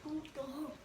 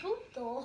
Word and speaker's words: puto: It's like Pluto without the L.